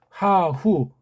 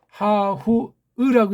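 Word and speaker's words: ההוא: 하후 저 사나이가 우리 이거 하후으라고 읽어야 되겠죠. 하후으 그게 맞습니다. 그렇게 읽어야 돼요.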